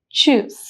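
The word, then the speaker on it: Tschüss: sound of U so the pronunciation is choose so Cho or Chow you can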